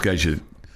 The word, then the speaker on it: Guy: It's Guy, but it's Guy Lafleur. Is it Guy Lafleur?